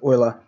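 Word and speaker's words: Euler: it and his name was Leonard oer so it's spelled Ula but it's pronounced OA so it's oa's number and that's why it's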